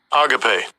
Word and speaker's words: agape: Okay, this is charity in Greek, so I'm going to let Esau pronounce it. Strong's G26, agape.